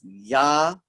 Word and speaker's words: Japheth: And again, I have tried to explain to you, this is a Y sound. So it's Japheth.